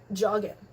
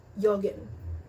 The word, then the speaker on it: joggen: Letter J is pronounced as Y, so don't go up to your German friends and be jeder geht jetzt joggen. No, jeder geht jetzt joggen.